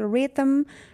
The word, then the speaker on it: rhythm: Rhythm, H is silent, and doubt, B is silent.